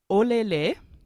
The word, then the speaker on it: olele: So it's olele. Say that with me.